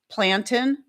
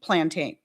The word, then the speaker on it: plantain: And I just all I did was tell him I said I said it's actually pronounced both ways.